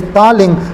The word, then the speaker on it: Daling: Right, that point is called as, if you remember about your darling, then you understand that this name also kind of the thaling, the pronunciation is thaling, but this point to be considered as a, to remembrance, that is the D-A-L-I-N-J, darling, right?